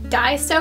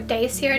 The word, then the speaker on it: Daiso: I used a brand from Daiso or Daisyo, depending on how you pronounce it.